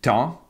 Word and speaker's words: temps: Si on dit de temps en temps, alors là, temps qui était temps devient temps à temps. Donc le S se prononce et même lié, liaison, lié au mot suivant.